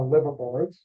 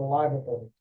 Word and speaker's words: Liverbirds: Barry corrected me when I called them the liverboards, uh, then that's the correct pronunciation, the liver birds, uh, is is way better told by the, uh, by the New York Times.